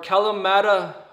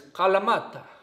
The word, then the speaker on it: Kalamata: to be using are Kalamata olives, or Kalamata, or as I was searching online, figuring out how to say this word, it's a Greek word and it's Kalamata, like that. Something like that.